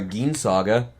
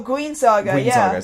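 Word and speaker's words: Guin Saga: uh one one of your favorites here a gin Saga oh guen Saga Saga I always mispronounce that yeah that was for um the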